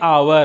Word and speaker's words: hour: अब देखते हैं, जैसे लिखते हैं इसको HOUR, इसको हम लोग बोलते हैं आवर।